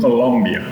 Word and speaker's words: Colombia: Not Colombia, not like the brand. Colombia.